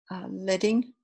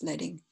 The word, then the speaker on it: leading: the default each font has a default optimal letting yeah and I know it's weird that to theme but it's not pronounced bleeding but it comes from the old